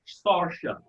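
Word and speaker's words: Saoirse: i was watching the interview her name is pronounced starship and you have to say it with the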